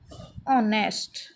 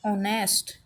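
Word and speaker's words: honest: ऑनेस्ट, ठीक है। तो हमारा जो ये लेटर हो गया ये हमारा साइलेंट होता है, यानी इसको पढ़ा नहीं जाता, बोला नहीं जाता, बोला सिर्फ इसको जाता है। ऑनेस्ट, एन ऑनेस्ट पर्सन, ठीक है।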